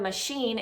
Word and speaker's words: machine: the word washing machine, the word machine is a CH, is the way that it's spelled, and it's actually an SH sound, so I would target that as an SH word.